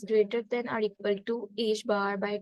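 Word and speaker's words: ħ: Delta p as greater than or equal to H bar by 2.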